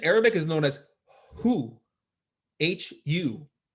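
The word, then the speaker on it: هو: And lastly, there's a mantra which in Arabic is known as who hu which is pronounced like an elongated breath.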